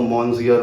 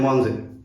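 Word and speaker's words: Monsieur: French नाम ठीक है मंजिर की स्पेलिंग अगर किसी ने पढ़ी है तो एम ओ एन एस आई ई यू आर करके है उसको हम पढ़ेंगे तो मंजिर पढ़ेंगे पर फ्रेंच बोलते हैं मनजे तो फ्रेंच पढ़ना अलग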